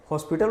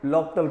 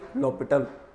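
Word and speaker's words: L'Hôpital: अब इसको क्या पढ़ोगे हॉस्पिटल रूल नहीं ये एल हॉस्पिटल भी पढ़ लेकिन एस नहीं है बीच में। इसीलिए हम लोग लोपटल पढ़ते हैं। इसको क्या पढ़ोगे? लोपिटल।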